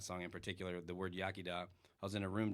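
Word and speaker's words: Iechyd da: So, Yakida, it's spelled really awkward, like it starts with an I, and a bunch of different language rules going on in Welsh, in the Welsh language.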